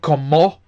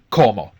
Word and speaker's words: como: Okay, and notice where the stress is. Like the AR verbs, the stress is always on the second last syllable. Okay, so it's not como, it's como.